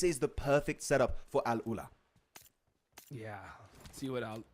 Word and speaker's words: Al Ula: the way, Mao, an Arabic caster, helped me pronounce it properly. So thank you very much, Mao. Yes. But yeah, Al Ula, central position, playing on the eastern side of C block.